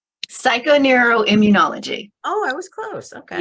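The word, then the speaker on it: psychoneuroimmunology: Knows psychon in Immunology psychoneuroim whatever I'm missing a syllable what am I missing Julie help me with that word psycho neural Immunology oh I was close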